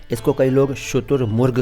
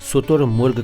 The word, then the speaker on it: शुतुरमुर्ग: कर लीजिए अच्छा जी शुतुरमुर्ग कहते हैं कोई सुतुर मुर्ग कहता है कोई कुछ और कहता है लेकिन सही उच्चारण